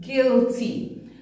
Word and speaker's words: guilty: look at these two the U is silent in guide and guilty I saying it's name